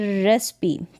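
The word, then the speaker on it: recipe: लेकिन कुछ गिने चुने शब्दों में कुछ स्पेलिंग्स है वहाँ पर ई का उच्चारण ई होता है। जैसे कि यहाँ पर देखें रेसिपी, क्या है, रेसिपी, इसका उच्चारण यहाँ पर है। तो यहाँ पर रेसिपी में ई का उच्चारण हो रहा है।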